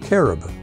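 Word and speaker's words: כרוב: what is a cubit in Hebrew cherub is pronounced caribou what is the significance of the colors blue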